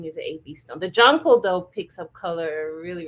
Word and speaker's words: Jonquil: How do you pronounce this? Jonquil. Oh, Jonquil.